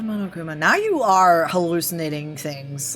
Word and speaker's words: Monokuma: Did you just pronounce it Monokama? No, I said Monokuma.